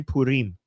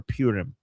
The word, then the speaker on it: Purim: In Persian, we say Purim. Purim. Is it Purim or Purim? I'm just going to say the Persian way, Purim.